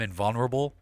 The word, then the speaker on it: invulnerable: Like, it makes me feel like, I'm invulnerable. Mm-hmm. Did I pronounce that right?